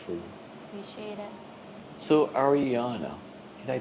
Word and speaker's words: Arianna: So, Ariana, did I pronounce it right?